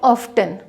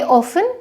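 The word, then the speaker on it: often: लेकिन जो नियम है वो ये कहते हैं कि यदि किसी शब्द के एंड में 10 आता है तो तब आप टी को प्रोनाउंस नहीं करते हैं, तब आप टी का उच्चारण नहीं करते हैं।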